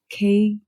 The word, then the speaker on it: Kegel: The pronunciation is Kegels.